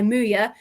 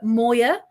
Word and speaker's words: Muya: was dispossessed h by Muya who had a fantastic game. Um some people call her Moya, but I think it's Muya.